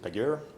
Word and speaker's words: Pagure: I pronounce it Pagure. You can pronounce it however you want, basically, as long as people know what you're talking about.